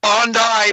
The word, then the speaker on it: Bondi: Yeah, let's let's pronounce it the way they're trying to pronounce it. Bondai Beach and I'm like, "Okay, it's spelled Bondi. I'm just saying."